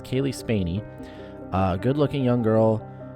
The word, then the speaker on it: Spaeny: pronounce this wrong but spainy I'm reading the pronunciation but I I think that's what it was Kaylee spainey a good looking young